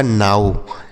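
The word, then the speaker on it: now: glow N ओ डब्ल्यू इसे पढ़ा जाएगा नाऊ यहां पर इसका उच्चारण आउ होगा इसका उच्चारण ओ की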